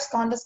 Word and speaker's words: skandhas: The five skandhas are, in short, a portrait of the human self.